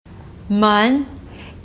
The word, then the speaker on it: 门: 门 gate, door. It's also a second tone word.